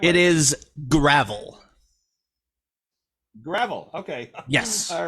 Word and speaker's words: Gravell: Did I pronounce that right? Gravel or Gravell? What's the right It way? is Gravell.